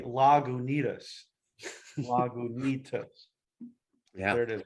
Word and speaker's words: Lagunitas: And then it gives you pronunciation. Say Lagunitas. Lagunitas.